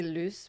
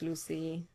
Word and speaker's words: Luce: I say Luce, but I really don't mind if people say Luce, Lucy.